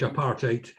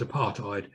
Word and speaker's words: apartheid: In the Afrikaans language, apartheid, it means separateness. When the word came to Britain, it was often mispronounced as apartheid. So both pronunciations are on the go, apartheid, separateness.